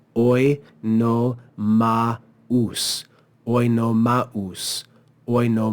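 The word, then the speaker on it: Oenomaus: We see the diaresis here, which says no, this is not the diphthong au. This is two separate syllables. So we read it as oi no maus.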